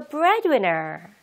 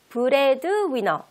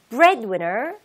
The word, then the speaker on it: breadwinner: 바로 Oh, so your husband is the breadwinner. Okay, breadwinner. 읽을 때 breadwinner 하지 마시고요. Breadwinner, breadwinner 하고 D 발음을 조금, 네, 약하게 내보도록 하세요.